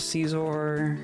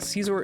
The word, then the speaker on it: Scizor: Um I still have I think Scizor is pronounced scissor. Wrong. And I I disbelieve. You can't say Scizor. It's a Pokémon. It's pronounced how I say it's pronounced. Um I have a couple people over here.